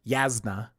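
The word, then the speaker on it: Jasnah: There's also like Yasna Colon, which I think I'm gonna or Colin Colon Colin, which I'm going to pronounce Jasna, but I think in our book club people were pronouncing her Yasna, which that's actually cool.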